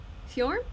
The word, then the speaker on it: Fjorm: Fjorm? Yeah, that's how you say her name.